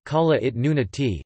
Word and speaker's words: Kalaallit Nunaat: Greenland, Greenlandic, Kalalit Nunat, pronounced Kalalit Nunati, Danish, Grønland, pronounced N-Land, is an autonomous constituent